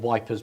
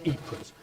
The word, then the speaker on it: Ypres: There was a trench newspaper called the Wipers Times, called Wipers because the British troops couldn't pronounce Ypres, and it was based there.